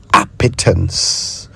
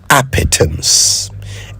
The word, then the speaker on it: appetence: Appetance. I'll spell it. A p E N C E. Appetance.